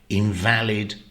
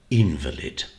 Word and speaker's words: invalid: a sick person and you stress either the middle syllable for the adjective or the first syllable for the noun in valid invalid okay well I hope that's